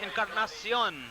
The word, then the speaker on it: Encarnacion: There you see him, Tony Encarnacion. It's the proper pronunciation.